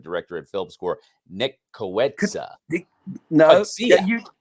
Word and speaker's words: Coetzee: So you have I've to kind looked of spell it Nick phonetically. Coetzee.